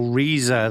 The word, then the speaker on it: Riesa: So Riesa, that's how they pronounce it. I was calling it Riesa.